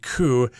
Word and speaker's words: coup: be careful there with the word coup it does have a p there but the p is not pronounced that just means a